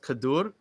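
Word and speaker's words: כדור: and I'm probably mispronouncing it uh is it pronounced kadur yeah very good okay so uh like that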